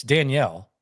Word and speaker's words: Danielle: Well, you also thought it was you didn't know you still call him Daniel Manning. It's Danielle.